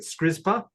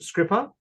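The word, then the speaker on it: Skripa: We've been pronouncing it Skrizpa, so it's Scrippa.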